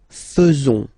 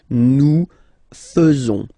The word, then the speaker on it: faisons: So it's quite strange because French people tend to pronounce faisons. Okay? So like here, this AE is not pronounced like normally we should pronounce it like E, but then like E. Okay? Nous faisons.